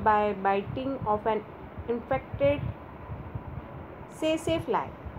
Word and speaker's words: tsetse: biting of an infected tsetse fly. The T is silent here, sorry, tsetse fly.